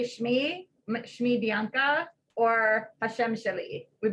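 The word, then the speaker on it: שמי: You probably say Shmi, Hashem. So Shem becomes in its base word Shim, Shmi, Shmech, your name.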